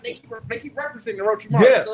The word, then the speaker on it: Orochimaru: Before we get to this, is Orochimaru Young Thug?